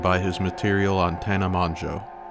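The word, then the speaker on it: Mongeau: his material on tana manjo side note i'm probably the first male youtuber to ever pronounce her name properly it's not that hard guys it's just the o sound it's a fringe thing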